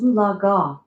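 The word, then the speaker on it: Eufaula: Ulaga, pronounced Ulaga, was also spelled Oalaga prior to Oklahoma's statehood.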